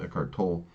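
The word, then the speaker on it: Eckhart Tolle: Why eart toy wrote eart tol now that I know the pronounce of his name eart tol that's why he wrote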